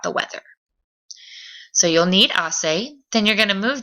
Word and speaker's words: hace: Remember, we don't pronounce the H in Spanish, so it's not going to be hace, it's going to be hace, hace.